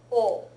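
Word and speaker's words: を: yes it's pronounced but it's generally pronounced o not wo the exception being a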